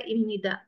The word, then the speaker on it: 입니다: Tapi bacanya orang Korea Ibnida.